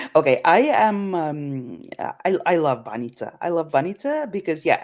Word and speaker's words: Banitsa: The Banitsa. Oof. It's pronounced Banita. Banita. Okay. Okay. Banita, yes, Banita.